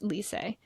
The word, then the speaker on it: Lisse: It's spelled Lisse, but it's pronounced Lisse.